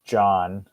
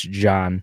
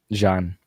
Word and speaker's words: Jean: remember a whole lot of others there was John I remember he's an a-hole right now yep it's the it's the the French pronunciation though it's j a an so it's Jean okay Jean he's yeah he's one of my favorite characters